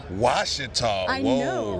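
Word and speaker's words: Ouachita: Remember, silent letters. Silent letters, but then the letter makes something different than what it's supposed to be.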